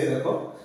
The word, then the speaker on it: the: দি হচ্ছে তার কারণ হচ্ছে যে টিএইচই পরে যদি একটা মানে ভাওয়েল থাকে, তাহলে দি উচ্চারণ হয়, দি, দ আর ই। তাহলে এখানে দি, টিএইচই পরে awareness রয়েছে, এ দিয়ে স্টার্ট, একটা ভাওয়েল দিয়ে স্টার্ট, ভাওয়েল দিয়ে স্টার্ট, সেজন্য এখানে দি লিখছে, এটাকে দি, দ আর ই।